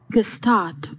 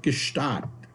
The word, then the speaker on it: Gstaad: Gstaad or Gstaad. Gstaad or Gstaad. See, so... So I call it Gstaad, and I apologize if